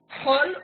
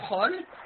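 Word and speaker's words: כל: Dans le texte de la Torah, il s'écrit toujours avec le kamat, il se prononce ou kol ou chol, selon qu'il y a un dagesh ou pas, un point ici au milieu ou pas.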